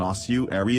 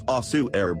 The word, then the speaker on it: ossuary: of human skeletal remains i wouldn't pronounce it as ossuaire but it could plausibly be pronounced something like that in accents and dialects of english okay